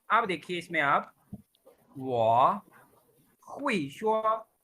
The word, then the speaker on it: 我: वाह पढ़ा है। Third tone.